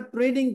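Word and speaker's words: trade: होगा मैंने के साथ ट्रेडिंग की है तो मैं इसको क्या कहूंगा ेड रिसी वेबल या ट डेटर डेटर नहीं पढ़ना टर बी को साइलेंट रखना डेटर या ट्रेड यही वज थी कि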